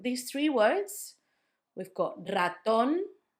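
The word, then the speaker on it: ratón: The first one, raton, it's on the last syllable.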